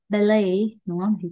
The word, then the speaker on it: ballet: cái từ này á, tiếng Việt mình hay đọc là ballet, đúng không? Hoặc là ballet. Nhưng mà nó không đúng, nó là ballet, đúng không? Thì cái âm T nó là âm câm.